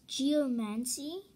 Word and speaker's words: Geomancy: Two moves, Geomancy, that's how you pronounce it.